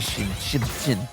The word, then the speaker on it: Xin: It's definitely Shin. Yeah, I mean, I'm not faulting your pronunciation.